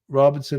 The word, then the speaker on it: Robeson: Lumberton and Fayetteville, people call it Robinson. I don't know why, but we do. So when y'all say Robeson, I'm like, I've been saying it wrong all my life.